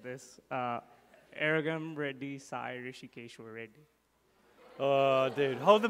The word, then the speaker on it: Rishikeshwar: Rishikeshwar. Say it again. Go ahead, just say that. Rishikeshwar.